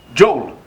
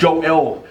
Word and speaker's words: Joel: English folks would pronounce my name, they would pronounce it without the E. Joel. And I'll be in the classroom like, that ain't me. my friends were like, they're talking about it. My name Joel. It's Joel. You know what I'm saying?